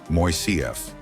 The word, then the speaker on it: Moisseiff: The call went out for a design that was both elegant and affordable, leading to the selection of engineer Leon Moisseiff, pronounced Moisseiff, a pioneer known for his aesthetically pleasing yet remarkably flexible suspension bridge designs.